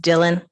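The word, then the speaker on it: Daylyne: ma'am last name c-o-l-l-i-n-s first name is d-a-y-l-y-n-e okay and that's pronounced Dylan yes okay do you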